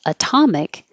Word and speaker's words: atomic: have this note here if the word is atomic the t is still between two vowels two voiced sounds but it does not change to D because it is in the stressed syllable Atomic so remember the